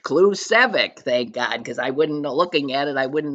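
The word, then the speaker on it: Klucevsek: It's one of those obus that it comes with pronounced clueic.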